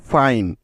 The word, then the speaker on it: fine: তাহলে এফ আই মিলে হয়ে গেল ফাই। তার শেষে আছে ন, যার জন্য নিতে হবে এন ই একসাথে। কারণ কি? কারণ ইটা শেষে বসলেই তো আই বর্ণটার উচ্চারণ আই এর মতো হবে, ঠিক তো? তাই শেষে নিয়ে নিলাম ই। সুতরাং FINE মিলে হলো ফাইন।